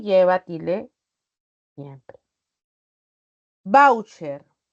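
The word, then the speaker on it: váucher: y lleva Tile siempre voucher voucher aquí está la sílaba tónica palabra grave que termina en r puedo tilar pero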